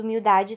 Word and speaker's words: humildade: a letra h e essa letra não tem som nenhum essa é uma regra